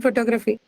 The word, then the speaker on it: photography: in the word in photography with syllable has the huh no no stress on oh no stress you cannot have a word no not the first syllable the second syllable no look at that